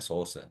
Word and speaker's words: Saussure: Bacanya ini orang Prancis, ya katanya Saussure.